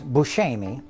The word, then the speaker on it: Buscemi: He said this looks like correct, like Sicilian pronunciation is Buscemi.